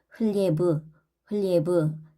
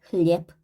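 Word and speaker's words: хлеб: 단어 끝에 유성음이 오면 흘리에브 이렇게 끌게 되는데 이거를 간결하게 발음한다고 생각을 하시면 돼요. 짝꿍인 무성음이 빼이기 때문에 흘리에프, zdarov, zdarov도 단어 끝에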